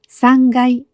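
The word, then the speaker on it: 三階: 階という人もいますが、3 階と発音します。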